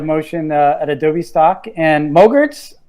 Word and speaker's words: MOGRT: at adobe stock and mogarts they're not little gremlins it rhymes with yogurt stuff um but they're